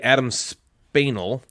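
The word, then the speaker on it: Adam Španěl: But Jan Sokol's the name is the same, and then Adam Spaniel is really Adam Spanel.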